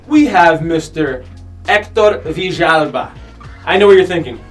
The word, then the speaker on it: Villalba: Yes, Villalba.